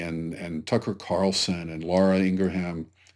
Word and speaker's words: Ingraham: Tucker Carlson and Laura Ingraham, or Laura Ingraham, I guess she pronounces it.